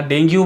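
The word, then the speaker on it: dengue: बहुत बहुत बड़े बड़े जो लोग हैं वो गलती कर देते हैं इसमें, लेकिन आप गलती मत कीजिए, इसको इसका सही उच्चारण डेंगी या डेंगी है, ठीक है।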